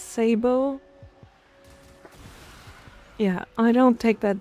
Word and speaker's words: sabot: nitane also apparently it's sabot rounds instead of sabbat rounds and I just can't take that seriously. It's Sabbo.